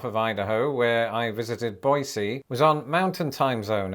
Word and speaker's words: Boise: at the airport in boisey also if you're wondering why I'm pronouncing it boisey instead of Boise that's how the locals told me to say it so if they lied